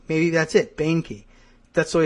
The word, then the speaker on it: Boehnke: It's Boehner, like B-O-E-8, Boehnke. Maybe that's it, Boehnke.